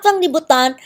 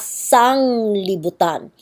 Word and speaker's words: sanglibutan: And then, but it's not fanglibutan. You're supposed to say it as sanglibutan. And sanglibutan simply means the whole world.